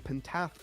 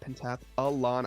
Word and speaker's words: pentathlon: What a championship that we have, and what a pentathlon, as I will pronounce that one properly. Pentathlon, there you go. not pentathlon. I need to still draw that one out.